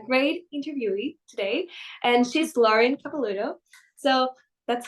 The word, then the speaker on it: Lauren Capelluto: I have a great interview today and she's Lauren kapalo so that's how I pronounce it right yes that's right great job